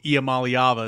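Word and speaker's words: Iamaleava: you know with Nico IAM malava is how you say his name of course um ability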